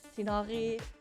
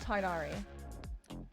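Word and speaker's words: Tighnari: I know Tignari, Tignari. I don't remember. I know it's not Tarnari. Tignari. I've seen a lot of different ways people pronounce it. I'm not sure which one is the right one. I'll go for Tignari.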